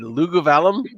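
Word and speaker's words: Luguvalium: And for those watching at home, I found a website to teach me how to pronounce the name of the town and shared it with everyone. And yes, for those of you playing at home, if you had Lugovalum, you were right.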